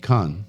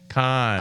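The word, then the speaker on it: Cannes: C-A- Con. Cons. No, just con. It's French. They don't pronounce half their letters. So the S is silent. Right. Cons. There's no S. Cons.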